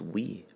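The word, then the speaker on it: oui: yes we on fance it's we o UI we if we say that phonetically it's we so yes in a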